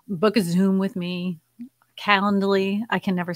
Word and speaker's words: Calendly: Calendly. I can never say that right. I think I said it right this time. Calendly.